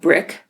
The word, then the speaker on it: Brikk: And then we left and we went and had lunch at a restaurant called Brick. We can pronounce that, but spelled Brikk.